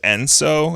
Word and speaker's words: Enso: There's Enso is a circle.